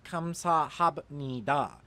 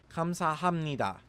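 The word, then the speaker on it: 감사합니다: It isn't pronounced kamsahabnida because the biub meets the nasal character nian, and when this happens, the biub turns into a mium sound, so this is pronounced kamsahamnida. Finally, this word means Korean.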